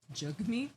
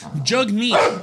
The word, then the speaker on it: Jagmeet: Jagmeet? Yeah, apparently that's how you say his name.